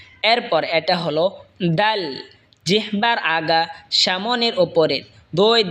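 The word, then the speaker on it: د: জিহ্বার আগা সামনের ওপরের দাঁতের আগার সঙ্গে লাগা উচ্চারণ হবে দাল। এই সা যেখান থেকে উচ্চারণ হয়েছে সেখান থেকে দাল উচ্চারণ হবে।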